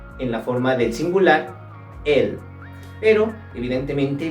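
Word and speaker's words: elles: la forma del singular el pero evidentemente la letra s no se pronuncia se dice el el y esto sería todo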